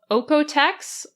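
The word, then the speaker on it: Oeko-Tex: Another is called Oekotex. That's spelled OEKO, and then Tex, like Tex-Mex.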